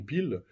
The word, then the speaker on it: Peel: organiser une commission denquête qu'on appelle la commission pil pil ça s'écrit p2 ol c'est une commission d' enquête